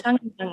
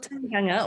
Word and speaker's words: tangihanga: Is that how you pronounce it? It's called tangihanga. Right. Yeah, it's called tangihanga, or tangi for short, which actually means, if you translate it, it actually is the word to cry.